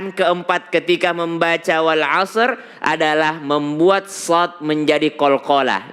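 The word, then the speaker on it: وَالْعَصْرِ: pertama sudah tahu kalahannya kadang kala Shad diganti Sin wal asr wal asr Iya maka dia harus Shad wal asr wal asr ya kemudian hukumnya adalah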